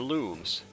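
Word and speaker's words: Lums: shiny precious lumps four looms which is supposedly the right way to pronounce it i'm gonna leave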